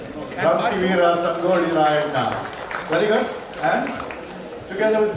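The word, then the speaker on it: Sangolli Rayanna: Special points for perfect pronunciation. It's Kranti Veera Sangoli Rayana. Kranti Veera Sangoli Rayana.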